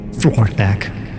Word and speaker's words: Flgorthak: Flgorthak, please. Yep, I'm not doing that. Well, that's very inconsiderate. I've learned how to pronounce all of your names.